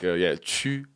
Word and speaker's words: chū: Chū is pronounced as one fixed sound. And the mouth shape would be like you're saying E and U and E and U at the same time.